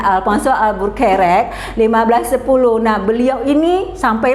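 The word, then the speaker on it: Afonso Albuquerque: Alpha soal buffered nah ini tulisnya Albuquerque ya Nah bacanya Alfan soal burack 1510 nah beliau ini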